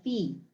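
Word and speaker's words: phi: me google that huh it's not omega what is it anyone it seems to be a fee oh thank you how do you say it oh it's a fee oh okay i might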